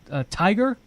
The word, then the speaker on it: TIGHAR: The website it's pronounced Tiger, your organization, right.